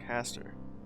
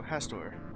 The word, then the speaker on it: Hastur: Has I thought it was like Hastur? I guess it is similar to sounding like Hector. So Hastor. Yes.